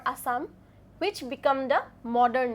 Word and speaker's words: Assam: The British pronounce asam or Assam which become the modern name.